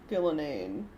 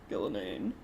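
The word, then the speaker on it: Ghilan'nain: It was like the double N's in the middle. You just have to ignore one of them. Gillanane. Or combine them.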